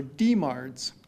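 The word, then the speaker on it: DMARDs: stands for anti-rheumatic drugs or deards is how we pronounce this and these are the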